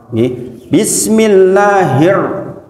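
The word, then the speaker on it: بسم الله الرحمن الرحيم: Getaran ro sebagian mengatakan maksimal 1, sebagian mengatakan maksimal 2. Bukan bismillahirrahmanirrahim. Rumongsone nek koyo ngono iki terus apik men. Itu keliru Bapak Ibu sedaya. Getaran ro maksimal itu 2 sebagian, sebagian mengatakan 1. Takririrnya, bismillah. Makanya kalau jenengan mendengarkan orang-orang yang bacaannya bersanad, kadang-kadang rada aneh malahan. Karena ro kayak berhenti. Ro itu naik nih Pak, ke langit-langit. Ro itu naik. Bismillahir itu maksimal tuh 2 sebenarnya, meskipun prakteknya kadang-kadang susah.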